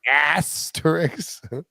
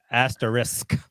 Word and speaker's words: asterisk: get them yeah bryson doesn't know anything asterisk asterix asterisk how how do you say it risk at